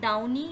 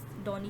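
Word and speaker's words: downy: Then है डाउनी, डाउनी कहते हैं या डॉनी भी कहते हैं, इसकी डिफरेंट प्रोनाउंसिएशन है अमेरिकन एंड इंग्लैंड।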